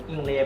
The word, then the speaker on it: อิง: a y เนาะ แต่ ภาษา ไทย อ่าน ว่า อิง นะ อิง อ่า อิง อิง ที่